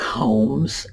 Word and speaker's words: Holmes: You do not pronounce the L. And there are a number of words like this. Palm is another one. Almond, another one. Sherlock Holmes is another one.